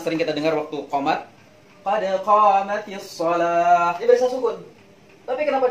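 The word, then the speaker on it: قد قامت الصلاة: Maka dihidupkanlah tak ini menjadi kasrah, jadi bacanya qad qamatis shalah. Tidak boleh qad qamat as-shalah, tidak bisa.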